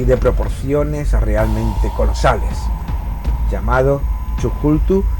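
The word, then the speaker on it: Cthulhu: proporciones realmente colosales llamado chulu Aunque realmente su nombre sería impronunciable siendo admitidas otras verbalizaciones como kazulu chulu entre otras muchas El caso es que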